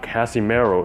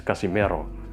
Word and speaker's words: Casimero: you westerners maybe you should try to practice pronouncing it right it's not pacquiao it's pacquiao it's not casimero it's casimiro all right if you say canelo alvarez you